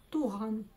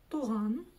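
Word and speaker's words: туған: Туган. И ударение практически всегда ставится на последний слог. Туган.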